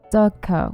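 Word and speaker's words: dukkha: Then he told me about Dukka, which is that, and I completely mispronounced it because I read the H as an N.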